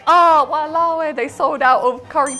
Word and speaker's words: walao eh: Like, could I be like, oh, walawe, they sold out of curry puffs? Yes. I mean, damn. Yeah, ish. That's so long for damn though, isn't it? No, it's just 3 syllables.